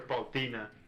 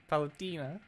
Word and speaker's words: Palutena: he was like, yeah, and they still call her Paltina. Palutina. Her name's Yeah, Tina. I can excuse mispronouncing characters if there's no official source that tells you how to pronounce it.